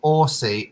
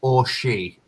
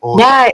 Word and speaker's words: Orsi: It's like he or she. That's how I usually explain it.